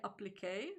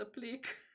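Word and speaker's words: appliqué: own pronunciations also applique i know that i'm supposed to say applique because it's french i believe but i just say it applique so i i just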